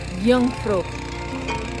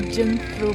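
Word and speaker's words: Jungfrau: N G but apparently it's been pronounced at Yungra and Yungra means in Germany it's a young woman. So the this mountain was named after a young woman called Yungfro Yungfro not Jimro mountain and it's so pleasant and lovely lovely weather.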